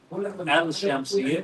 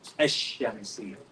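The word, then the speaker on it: الشمسية: We don't say al-shamsiyah. We say ash-shamsiyah.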